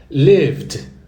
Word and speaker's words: lived: Então ficou lived, ó, lived. Como se fosse lived no final, D mudo.